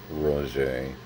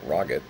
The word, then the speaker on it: Roget: It's in Webster's, Funk and Wagnall, Roget, or Roget, if you prefer. As an American, it always sounds so snooty.